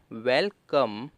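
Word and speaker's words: welcome: ई को कुछ नहीं, क्योंकि आपको भी पता है और सबको ही पता होना चाहिए कि जो वर्ड के लास्ट में ई आता है वो साइलेंट रहता है। तो क्या बना, वेलकम।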